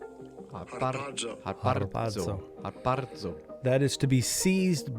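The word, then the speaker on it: ἁρπάζω: There's a twirling of the R's in Greek, and I can't do it, but here it is. Strong's G 726. Harpazo. Harpazo.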